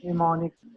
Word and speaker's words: mnemonics: ये स्पेलिंग इसके हैं MNEMONICS, लेकिन इसको प्रोनाउंस कैसे किया जाता है? निमोनिक्स।